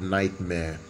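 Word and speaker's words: NGHTMRE: dj more or less called nightmare uh his name is spelled n g h t m r e um the name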